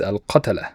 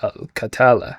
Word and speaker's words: Al-Qatala: We are Worthy of noting also that they pronounce the Arabic word Al-Qatala in an English accent. The proper accent is Al-Qatala. The way they They it is Al-Katala.